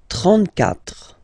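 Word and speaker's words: trente-quatre: you start with, well, if you get this combination Q, U, A, well, you will pronounce it K, K. Same thing for the other vowels, okay? So because that's the rule. After Q, normally we put U and then another vowel, but then this U, well, basically it's not pronounced, okay? So K, 4, 34.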